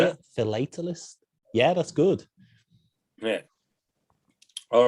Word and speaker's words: philatelist: Philatelist?